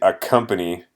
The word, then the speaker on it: accompany: So here actually you just pronounce it as though, como si, if there was only one of these. So you just say accompany, just pronounce it, lo pronunciamos como k, just like a letter C.